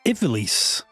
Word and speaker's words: Ivalice: It seems like pronouncing it evilise in this rather than ease.